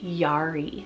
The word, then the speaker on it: Yari: we have the name Yari spelled y-a-r-i Yari so just like alari it's very romantic sounding